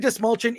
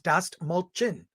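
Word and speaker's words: Dastmalchian: Lemire says uh David dismalchin is great in teacher I think that's his name I know how to spell it spelled just like it sounds dust mulchin it's all good someone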